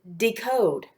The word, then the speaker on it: decode: Do you see the silent E that comes at the end of code? That tells us that the O is going to be long. If you'll also look, I